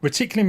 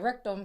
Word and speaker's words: reticulum: Reticulum is actually a complete network stack. So fundamentally... Oh, it's pronounced reticulum. I was like, rectum, sorry.